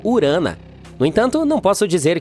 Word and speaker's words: Urano: não Fer bem bem Estamos chamando Urano de forma errada todo esse tempo os astrônomos dizem que deveríamos pronunciá-lo como urana no entanto não posso